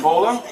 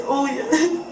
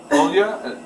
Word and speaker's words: Olia: How do you say your first name? Bola? It's Olia. What is it? Olia. Olya? Okay.